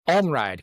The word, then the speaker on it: Almryde: Uh, hey, help me out with the pronunciation of your last name. Enride.